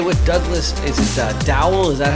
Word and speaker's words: Dowell: i'm joined today with douglas is it a dowel is that how you pronounce it correct perfect yeah victory and i'm